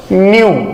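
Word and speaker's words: ν: Denote करते हैं और इसका प्रोनाउंसिएशन होता है न्यू। प्रोनाउंसिएशन है न्यू, मतलब नया नहीं, इसको प्रोनाउंस करते हैं न्यू।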